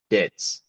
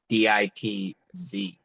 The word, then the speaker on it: Ditz: So Ditz, DITZ. Yes. Yeah, Yes. don't misspell it.